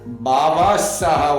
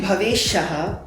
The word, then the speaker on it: Bhavesh Shaha: here they call me Bhavesh Saga. Baba Shaha, one boy told. It's actually Bhavesh Shaha, but the way my name has been mispronounced, I have forgotten how to pronounce it.